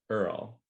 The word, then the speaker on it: URL: And that's actually the scene where it's Smitty and Earl. Yeah, but it's spelled URL, right? His name is URL, pronounced Earl. Earl.